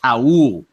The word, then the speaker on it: Raul: We got to correct this because Raul Neto, it is pronounced Raul. Yes, okay, it is Raul Neto. I know. I'm not getting on you. Most people don't know. Right, it looks Raul. It's Raul.